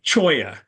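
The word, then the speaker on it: cholla: golf club so okay choya uh for starters uh back Eastern folks not even sure how to pronounce when they see it spelled c h o l l a and it's a type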